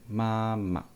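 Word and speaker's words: 妈妈: Father and mother, please focus on the neutral tone. Papa and mama.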